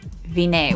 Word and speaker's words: Vine: You have chosen King/Count Vinay, which is spelled like vine.